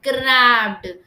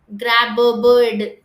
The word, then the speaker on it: grabbed: இங்கே பாருங்க, GRABBEDனா கிராப்டு. கிராப் பேர்டு கிடையாது, கிராப்டு. ஏன்னா ஸ்டூடெண்ட்ஸ்க்கு நாங்கள் சொல்லி கொடுத்துருக்கோம்ல, தட் டபுள் B வந்தால் ஒரு வாட்டி தான் ப்ரொனவுன்ஸ் பண்ணணும்.